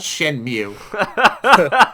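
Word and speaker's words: Shenmue: __ ] like Asian cow or something it's Shen Mew um Shen Mew one uh came out on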